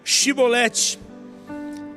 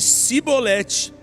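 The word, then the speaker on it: Chibolete: Se respondesse que não, diziam, então diga, Shibolete. E se ele dissesse Sibolete, sem conseguir pronunciar corretamente a palavra, prendiam-no e matavam-no no lugar de passagem do Jordão.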